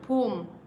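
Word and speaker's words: poem: പൂം പൂം ജിബി പൂം പൂം അങ്ങനെയാണ് പറയുക. പോയം എന്ന് പറഞ്ഞാലും കുഴപ്പമൊന്നുമില്ല കേട്ടോ. പോം എന്നാണ് അതിൻ്റെ കറക്റ്റ് പ്രൊനൗൺസിയേഷൻ.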